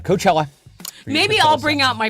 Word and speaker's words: Coachella: for your Coachella scent Coachella noticed it's not pronounced in The Bugs Bunny wa coella uh Coachella maybe I'll bring out